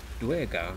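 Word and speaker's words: Duergar: daring the daring DGA I was just pronounced that durar but it's duar it's duar yeah duar okay you need to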